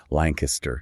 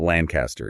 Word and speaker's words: Lancaster: If you want to avoid being immediately flagged as a tourist, you say Lancaster. Lancaster. Lancaster. Yeah, not Lancaster.